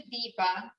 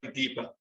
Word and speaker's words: Deepa: to tell everybody okay my real name is deepa and he can't pronounce it he can't pronounce the d part and that's what i'm told anyway to me it sounds like deeper fifa that's what i